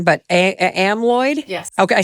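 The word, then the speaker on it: amyloid: Though I'm going to say this word wrong, but a amalloid.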